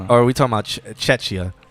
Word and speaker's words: Czechia: Oh wait, or are we talking about Chechia? Czechia.